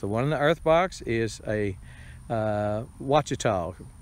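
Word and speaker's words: Ouachita: earth box is a watch at all pronounced watch it all starts with a q qu a CH ITA and I've grown them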